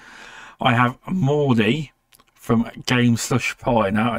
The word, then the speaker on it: Mordie: to correct me if I'm wrong I have Morty from game slush pie now did I say that correctly so people can actually pronounce it oh yeah yeah because I was